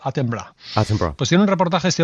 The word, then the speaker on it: Attenborough: inglés si se pronuncie se escribe attenborough vale y por lo visto se pronuncia a temblar pues tiene un reportaje